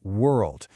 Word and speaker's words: world: And finally, the word world. This word is a stress test for almost everyone, even some native speakers. It forces you to blend a vowel with an R and then immediately in the same syllable transition to a dark L at the end.